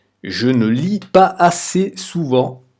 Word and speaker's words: pas assez: Donc le S se prononce comme un Z. Je ne lis pas assez souvent à mon goût.